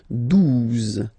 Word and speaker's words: douze: exist phonetically, onze, okay, douze, douze, O, U, the two together will give you the sound OU, okay, and then Z, douze, douze, alright.